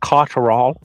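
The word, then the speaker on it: Catterall: I think that's thec it's pronounced Jack caral but yeah whatever you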